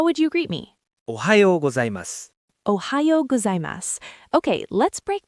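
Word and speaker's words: おはようございます: Ohayou gozaimasu. Ohayou gozaimasu. Let me say that slowly for you. O-ha-yo go-zai-mas.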